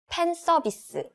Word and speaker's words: 팬 서비스: 팬 서비스. 판서비스. Right, we don't have F sound in Korean pronunciation, so we just use P sound instead.